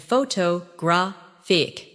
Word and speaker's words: photographic: In English, some words are pronounced with extra emphasis on one part. For example, photograph, photographer, and photographic. The stress moves and that changes the sound.